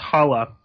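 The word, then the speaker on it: Xala: which is a language spoken in Senegal it's pronounced hawa this is by Osmani sim bene I'm sure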